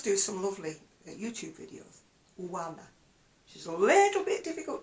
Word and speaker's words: Oana: you pronounce her name I think it's aana it's O A N A she does do some lovely YouTube videos Wana she's a little bit